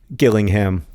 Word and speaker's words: Gillingham: Rosianna has just texted me to tell me that there is a third Gillingham. This one is also with a hard G.